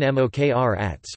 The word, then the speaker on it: Mokranjac: September 1914, known as Stevan Mokranjac, Mokranjac Serbian pronunciation, Stijen Mokranjac, was a Serbian composer and music educator.